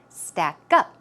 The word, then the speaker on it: stack up: So, pronunciation, stack up. Always keep in mind, when you usually have 2 words, a compound word, the stress goes on the second syllable.